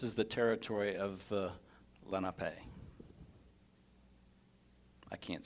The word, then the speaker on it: Lenape: The natives didn't have syllables. They didn't use syllables and accents. So where we might say Lenape, well, that doesn't make sense because the pay is an accent. And so it's Lenape, and it's just almost one word.